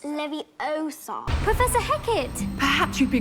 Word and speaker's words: Leviosa: late you're saying it wrong it's Leviosa Professor Hackett perhaps you'd